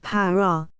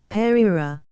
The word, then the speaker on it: prairie: I may premise that the word prairie is variously pronounced para, perira, parora. The latter mode of pronunciation is perhaps the most in favor.